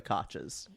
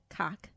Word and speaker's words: Koch: It's the Koches. I think it's the Big Cox. Apple. No, it's Mayor Koch. Cock. Koch. But if it were a Koch brother, which I think is spelled basically the same way, It'd be cock.